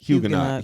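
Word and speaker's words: Huguenot: Hugenot.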